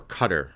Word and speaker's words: Qatar: Saudi Arabia the UAE even Qatar or Cutter I'm sorry pronounced properly in these conservative Gulf